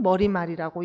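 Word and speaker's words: 머리말: 출발 해서요 뭐 는 머리 말이라고 얘기해야 돼 있고 발음도 머린 말이라고 하면 트였다 고 했죠 머리 말이 라고 발음해야 되는데 이것 부터가 한국산 어렵다고 했습니다 그리고 머릿말 시 옷을 넣는 사람도 있고 안 넣는 사람도 있고 차기 마음대로 쓴다고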